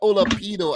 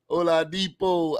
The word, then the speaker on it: Oladipo: Why do I say Michael Olapido? I always say that though. I always say that. Olapido. Oladipo.